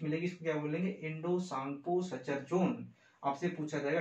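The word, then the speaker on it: Tsangpo: देखो इसको बोलते हैं Indo सांगपो, Indo सांगपो सचरजो, English में भी लिख लेते हैं इंडो सांगपो, टी साइलेंट रहती है।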